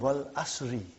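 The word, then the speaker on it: وَالْعَصْرِ: How do you say Suratul Asr? What is the first ayah? Wal Asr. Have you ever noted down what is written there? It's called Wal Asri.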